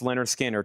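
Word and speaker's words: Lynyrd Skynyrd: Pronounced Leonard Skinner to be a simple kind of man.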